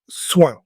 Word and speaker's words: soin: Today's word is soin. Say it with me, soin. Listen for the nasal sound at the end.